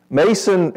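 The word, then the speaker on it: Mnason: long standing with whom we were to Lodge Mason and it's pronounced like the end's not there Mason is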